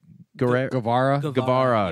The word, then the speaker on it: Guevara: Guevara.